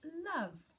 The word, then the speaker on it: love: Number 1 is love. And you actually spell love like love, don't you? It's l-o-v and a silent e at the end.